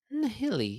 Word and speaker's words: Nihili: Nihili? Nihili, yeah. I've never Nihili? really thought about Nihili. It's like Yeah, or nihilism, Nihili. I'm thinking basically. nihilism, but it's Yeah. it's a It's Nihili.